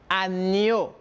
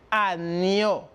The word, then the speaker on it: agneau: Numéro 8, on identifie le son ña, igual como en espagnol. Por lo tanto, je prononce agneau. Repito, agneau, oveja, en espagnol.